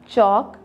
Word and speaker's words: chalk: again L silent है, chalk L silent है, lamb यहाँ पे हमारा B साइलेंट है, विसल यहाँ पर हमारा T साइलेंट है।